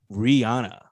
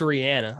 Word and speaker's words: Rihanna: goes out to miss Rihanna um apparently it's Rihanna according to her who but I say rihan I'm just saying everyone says Rihanna apparently she pronounces it R Rihanna uh um Rihanna yeah